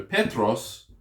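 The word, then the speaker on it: Πέτρος: is different okay so Petros now the accent falls on the second to last syllable so philipos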